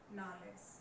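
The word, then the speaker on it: knowledge: नॉलेज क्या बोला इसको, नॉलेज, के साइलेंट है।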